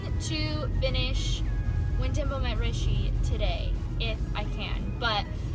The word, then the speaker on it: Rishi: So I think that it's pronounced Rishi, so When Dimple Met Rishi, and Rishi is so cute, and I love